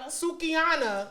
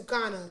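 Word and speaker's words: Sukihana: So we got, how you say her name? Sukiana. I was going to say Sukana.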